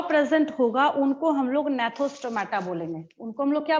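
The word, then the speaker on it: Gnathostomata: Second वाले में भी जी साइलेंट है और फर्स्ट वाले में भी जी साइलेंट है।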